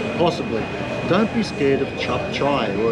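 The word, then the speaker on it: cap cay: Don't be scared of chop chai. Well, it's spelled C-A-P-C-A-Y. It's K, but it's chop chai.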